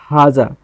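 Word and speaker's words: هذا: ये हाजा, ये जो है ना, this is representing that we have to extend हा ऐसा उसको प्रोनाउंस करना है, ठीक है, ठीक है।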